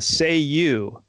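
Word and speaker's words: Cei-U: could summon him by saying the mystical words say you right but it's spelled CEI space.you but it's pronounced au so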